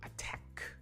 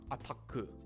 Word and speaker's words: attack: Or attack, attack, not ataku, ataku. right? You don't want the ku sound, you want the k, attack.